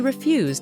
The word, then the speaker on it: refuse: verb to infinitive she refused his invitation she refused to come to his party and don't forget to stress the word on the second syllable refuse I refuse to believe